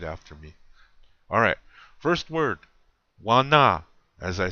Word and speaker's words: wana: And you say it like this. Listen to how I say it very closely and where I have the accent or the emphasis.